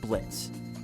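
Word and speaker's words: Blitzø: let's start off with blitz yo is silent if you didn't know so when we talk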